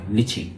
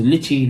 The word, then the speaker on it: lychee: So you pronounce it like L-I-T-C-H-I, lychee. Yeah, so lychee, lychee, either one is fine.